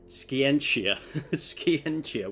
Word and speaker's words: Scientia: playing a simic commander with Ignisk skenia skenia which apparently is the way it's pronounced I hope.